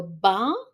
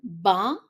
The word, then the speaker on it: bas: So ba, and the S is silent when it comes to this example. It for masculine, ba, female, bas, and it means low.